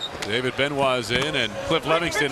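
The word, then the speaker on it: Benoit: It's on David Benois. B E N O I T pronounced Ben.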